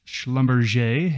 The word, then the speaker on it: Schlumberger: Now, look, the actual pronunciation is Schlumberger. It sounds much fancier.